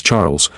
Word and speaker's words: Charles: dear husband she replied Charles pronounced the French way as Charles looked like typical eurotrash